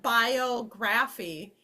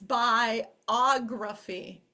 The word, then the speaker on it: biography: So this isn't biography, it's biography, biography. So the accents often shift.